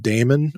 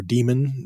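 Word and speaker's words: Daemon: wrote a book called Damon or demon depending how you want to pronounce that word which is similar this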